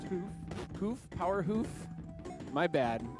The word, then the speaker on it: hoof: It's pronounced hoof.